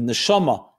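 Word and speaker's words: נשמה: Neshama, soul. Neshima, same letters but pronounced differently, is breath.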